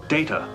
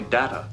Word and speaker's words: Data: It is pronounced Data. Oh? You called me Data.